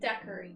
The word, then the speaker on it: daiquiri: Margarita or how do you pronounce that? Daiquiri? Daiquiri.